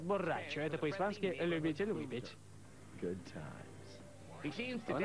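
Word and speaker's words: Bo' Rai Cho: Если произносить слитно, будет Бо Рэй Чо.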